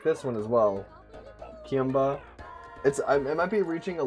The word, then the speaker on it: Kiimba: Kiimba, pronounced Ki-imba, like Queen and Ki and Marimba. That's very interesting.